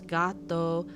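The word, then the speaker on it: gatto: people are not going to know how to spell it because it's gato gato in Spanish it's got though g-a-t-t-o in Italian and so people are going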